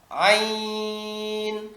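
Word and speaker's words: عين: সদ জদ ত দ আইন আইনের ক্ষেত্রে যেটা হয় বাচ্চার আইনে টানেন আইন আইন না আইতে টান আইন ইয়া জবর আইন এই আইতে টান দিবেন আইন শেষে নুন সেকেন্ড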